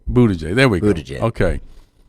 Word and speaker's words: Buttigieg: I ain't gonna say what his nickname is that I gave him, but you look at Buttigieg. If I say his name right. Buttigieg.